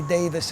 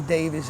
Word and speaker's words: Davies: and ray davies and i say his name both ways ray davis is the english way ray davies is the american way but uh so you